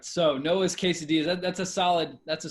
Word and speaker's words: quesadilla: forgot noah the uh you have to have the double l uh it makes the you are the worst all right so noah's quesadillas that's a solid that's